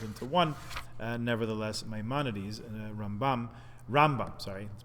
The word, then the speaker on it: Rambam: should be rolled into one nevertheless maimonides rambam rambam sorry let's pronounce it properly uh does believe and in